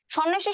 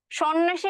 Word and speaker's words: সন্ন্যাসী: স বলে উচ্চারণ করি কিন্তু দেখো ধ্বনির উচ্চারণের ক্ষেত্রে একটা নিয়ম আছে যে প্রথম ধ্বনি কোন একটা শব্দের প্রথম ধ্বনিতে যদি একটা অ যুক্ত থাকে হুম আর তারপরের ধ্বনিতে যদি একটা জ ফলা থাকে সেই ক্ষেত্রে ওই যে শুরুর অ যুক্ত ধ্বনিটা সেটার উচ্চারণ হয় হচ্ছে ও এর মত একটু টাফ মনে হচ্ছে